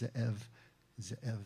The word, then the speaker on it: Zev: They're based in Alexandria, West Virginia, and the owner, the head honcho, his name is Zev Wexler, and his name in Hebrew would actually be pronounced Ze'ev, and it means wolf, and he's very proud of that.